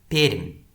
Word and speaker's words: Perm: The name isn’t particularly interesting, though I guess locals pronounce it with more palatalisation than other Russian speakers.